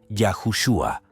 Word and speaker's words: Yahushua: ortografía como la pronunciación originalmente el nombre de Jesús pronunciaba yahushua hay bastantes teorías por